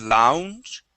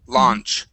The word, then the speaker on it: launch: okay uh launch here with the Au we are only going to say a instead of Lounge it is launch launch okay give me